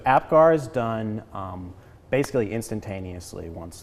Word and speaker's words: Apgar: what they do so am I saying it right the Apgar so that yes so Apgar is done basically instantaneously